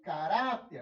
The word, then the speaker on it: caráter: lidar com pessoas sem caráter a sílaba tônica é a penúltima então foi dentro de